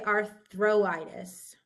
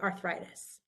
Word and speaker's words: arthritis: vow needed so you we don't say arthitis that's too many vowels we say arthritis in this example here